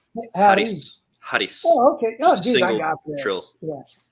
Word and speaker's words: Harris: It's like Harris. Roll your R, Harris.